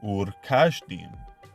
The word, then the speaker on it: Ur-Kasdim: The term Kasdim does not contain the letter Samek, but rather Shin. Therefore, the original pronunciation of Ur-Kasdim would have been Ur-Kashdim.